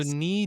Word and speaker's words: knee: Sorry, this is so dumb because it's like So knee doesn't have the hard K sound.